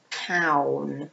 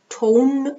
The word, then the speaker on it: town: All right, and which one is a town? Notice the pronunciation. Town. Tone, no, town.